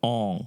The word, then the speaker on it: Aang: It's pronounced Aang.